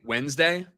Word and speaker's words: Wednesday: We I say Wednesday. I say it like it's W N D, right? Isn't that how you say Wednesday? Wednesday. Yeah. Right. But it's spelled wed day. We're all saying it wrong, but I can spell